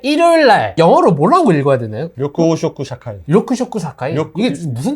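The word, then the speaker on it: 緑黄色社会: 자, 그 다음 이제 일요일날 영어로 뭐라고 읽어야 되나요? 료쿠 오쇼쿠 샤카이.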